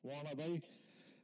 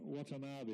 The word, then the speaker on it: Watanabe: The Australian pronunciation, Wanabe. Shiro Watanabe, it's not Shiro Wanabe.